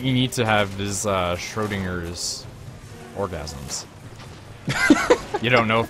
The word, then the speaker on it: Schrödinger: I can never pronounce the name. Schrödinger's, something like that. Schrödinger. Schrödinger.